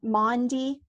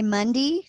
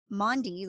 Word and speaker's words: Maundy: think it was just my mom mispronouncing mande because she would say my mom would say Monday like she'd say well Monday I was doing this and so